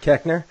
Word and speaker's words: Koechner: see what was his name David David Koechner Koechner yeah that's how you pronounce it so you got to see him